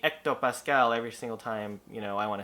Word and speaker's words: hectopascal: but this commenter thought I should just say hectopascal out loud every single time. So I looked it up, the pronunciation, and here it is really quickly.